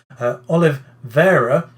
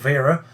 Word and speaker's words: Oliveira: Oliveira, not Vera. There's no I in his surname, second part of his surname there.